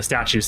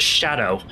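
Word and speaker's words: Scadu: So, it's actually it's actually pronounced shadow. Uh that that word is shadow in old English.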